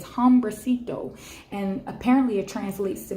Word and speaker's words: hombrecito: And this is a Spanish word, and forgive me if I mispronounce this, but it's hombrecito.